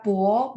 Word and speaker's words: 博: Baca bo, B baca P. Terus kalau teman-teman masih ingat, kalau ketemu konsonan sama O, di tengah-tengahnya mesti ada U. Jadi bacanya, kalau dibaca ya, berarti P, U, O. Cuman ada 2. Bo, 博士. Ya. 博士. Bo-nya 2. Ada 2. Cara bacanya saya kurungin ya. B baca P. Ketika ketemu konsonan gabung dengan O, tengah-tengahnya masih ada U.